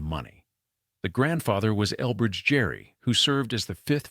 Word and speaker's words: Gerry: The grandfather was Elbridge Gerry, who served as the 5th Vice President of the United States, under James Madison. The family name was pronounced with a hard G, like the actor Richard Gere.